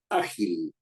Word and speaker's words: ágil: porque termina en vocal la palabra ágil ágil que una persona ágil tiene dos sílabas a Gil y es una palabra grave porque la fuerza de voz está en a es cierto o no